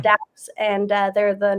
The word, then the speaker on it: Dappz: It's DAPPZ. Daps.